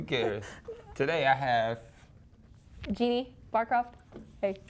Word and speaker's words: Barcroft: Today I have Genie Barcroft.